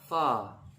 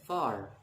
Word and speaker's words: far: Biasanya kalau orang Amerika akan sebutnya far pakai R. Tapi kalau lo dengar British, dia akan far. It's so far from here. Far. So jadi R-nya itu nggak dibaca jelas.